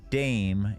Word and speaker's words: Dame: Dame. Yes, it's the female equivalent. Rhymes with the same. Rhymes with same. Dame.